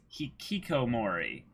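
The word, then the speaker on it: hikikomori: keep Kiki Komori exactly I was saying it wrong earlier it's it's he Kiko Mori I forgot him extra I in here mmm-hmm but I left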